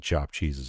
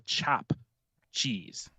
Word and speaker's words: chopped cheese: just different versions of chopped cheeses everywhere yeah also for the record apparently it's called a chop cheese like not chopped but I see the people who are non-new Yorkers call it chopped cheese because you know